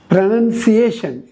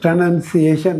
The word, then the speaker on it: pronunciation: ప్రొనౌన్సియేషన్, ఇది PRONUNCIATION. ఇక్కడ PRONOUN ఉంది, ఇక్కడ PRONUNCAI ఉన్నది, TION ఉంది, ఇక్కడ IATION అన్నమాట. ఇది ప్రొనౌన్సియేషన్, ఉచ్చారణ.